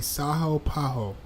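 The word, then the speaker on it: São Paulo: So the the L is silent, right? So it'll be Saho Paho.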